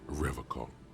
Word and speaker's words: Revocol: He pronounces Revocol with a hard K, unlike other people.